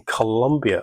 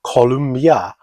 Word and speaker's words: Colombia: And Ghana giving Colombia, or it seems to be everyone wants to pronounce it Columbia.